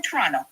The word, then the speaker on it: Toronto: I'm from Toronto and you you always read my uh my my turtle chats. Yeah, I know you're from Toronto because you said that you didn't pronounce the second T.